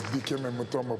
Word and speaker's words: Dikembe Mutombo: We have one of the greatest basketball players of our time, Dikembe Mutombo. Did I pronounce that pretty close? Yes, it's Dikembe Mutombo, Polando Mukamba, Dikembe Mutombo.